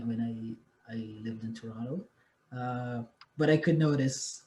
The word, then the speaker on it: Toronto: might just add that when you pronounce toronto you actually dropped the second t like most people from toronto do which is which is